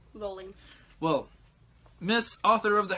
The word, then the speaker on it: Rowling: How's it pronounced? Rolling.